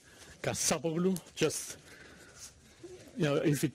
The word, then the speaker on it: Kassapoglou: My name is Kassapoglou. Accent on the second A, Kassapoglou.